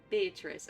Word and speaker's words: Beatrice: Beatrice. Okay, gotcha. If that's the wrong pronunciation, I swear to God.